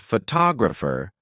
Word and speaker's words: photographer: For example, in the word photographer, the stress is on the second syllable.